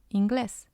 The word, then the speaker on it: inglés: The rule says that the stress should be on the second syllable, so it should have been inglés. Inglés. But it's not, it's inglés. But we have to put the accent on the vowel of the first syllable so that we know we have to stress that one instead of following the normal rule.